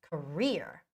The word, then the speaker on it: career: CIO um okay um but in English it's career there's a stress on the second syllable but you know I